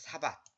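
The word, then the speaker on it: שבת: 요거 밭도 이거 밭 이렇게 하지 말고 이렇게 티읕을 붙이면 더 발음이 정확합니다. 사밧 이렇게.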